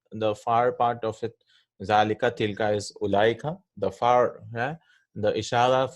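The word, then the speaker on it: أولئك: Zalika, tilka is ulaika, the far, yeah? The ishara for far things, those, ulaika. Right? And we write ulaika with a vav, but this vav is not pronounced, right? We don't say ulaika.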